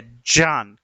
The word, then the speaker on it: ज्ञान: जबकि ज्ञान का सही उच्चारण ज्ञान नहीं है, इसका उच्चारण क्या है? इसका निर्माण कैसे हो रहा है? ज और य और अ से मिलकर हो रहा है।